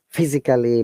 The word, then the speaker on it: physically: All right, so this word, look, most of the people will pronounce it like technically, physically, basically.